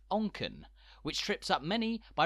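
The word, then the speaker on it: Onchan: second largest settlement on the Isle of Man pronounced onken which trips up many by resembling the Japanese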